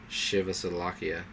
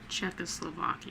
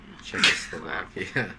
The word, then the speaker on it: Czechoslovakia: ago the British and French governments abandoned uh shivas Slovakia how do you say that Czechoslovakia Czechoslovakia goly do